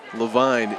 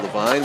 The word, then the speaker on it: Levine: Doing the kicking is Mike Lavine. Leavine is the pronunciation we have from Bob whose pronunciations I trust. Our public address announcer. So we'll go with Levine with another touchback.